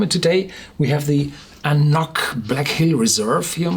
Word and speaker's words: An Cnoc: The whiskey was named Black Hill because the distillery in which this AnCnoc, or AnCnoc, how it's pronounced the right way, is produced, carries the name Knockdhu.